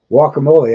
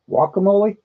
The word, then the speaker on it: guacamole: That's how they pronounce it down there in deep Texas. Or at least most of them do, I think. Isn't that what they call it down there, Surf and Silver? Guacamole, not guacamole or jalapenos, and not jalapenos.